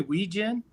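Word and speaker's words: Wetjen: Oh, Weechin, like a gin.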